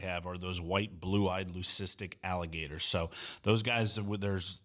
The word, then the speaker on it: leucistic: Now, in the open, I mentioned a extremely rare white Did I pronounce that word right? Leucistic alligator? Yeah, you did.